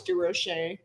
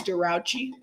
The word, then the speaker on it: DeRoche: Yeah, Chris I didn't know how to pronounce her name, and I used to call her Chris DeRouchy. DeRoche. Sorry, Chris. It rolls off the tongue a little better. Yeah, DeRoche sounds good.